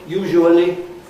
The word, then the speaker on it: usually: No, they're not 4 syllables these days. They're usually, here it is, usually 2 or 3 syllables. And usually, for instance, in a very common pronunciation, that's just 2.